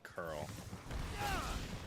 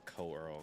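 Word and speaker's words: Coeurl: Curl, excuse me, curl. I always say co-earl because of how it's spelled.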